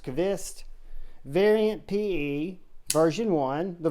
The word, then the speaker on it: Qvist: so guys that is the kavist or Cubist it's pronounced cavist variant PE version one